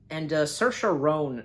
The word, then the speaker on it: Saoirse: Yeah, now this film definitely I've heard about, and Saoirse Ronan.